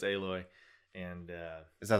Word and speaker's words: Aloy: Is that how it's pronounced? Aloy? Aloy. Yeah. Weird. Yeah. Okay. What did you think it was? I don't know. Aloha, Alloy.